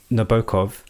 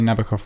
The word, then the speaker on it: Nabokov: a novel is uh Na- Nabokov, if we are using like the proper pronunciation. We can have that debate about whether it's Nabokov or Nabukov or whatever.